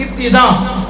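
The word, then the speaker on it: ابتداء: بولنا یقیناً غلطی ہے۔ ابتدا کو ابتدا بولنا یہ بھی غلطی ہے، ابتدا افتعال کے وزن پر ہے، تو اس میں تاکہ نیچے زیر آئے گی ابتدا۔ اب یہ لفظ بھی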